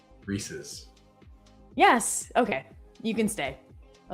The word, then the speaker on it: Reese's: So how do you say it? Reese's.